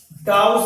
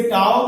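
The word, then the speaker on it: τ: इसे टाउ भी पढ़ लेते हैं या कहीं कहीं आपको टो भी पढ़ने के लिए जो है लिखा होगा किताबों में, तो लोग जो है प्रोनाउंसिएशन इसका टाउ या क्या है टो से पढ़ा जा सकता है।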